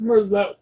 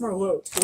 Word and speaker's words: Merlot: It's pronounced Merlot. We're French tabby. Go. Merlot. She says, yeah, but she's the one who's saying it wrong. It's pronounced Merlot.